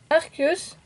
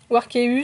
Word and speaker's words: Arceus: et ici nous avons Arceus warcheus ça dépend comment vous prononcez qui est également signé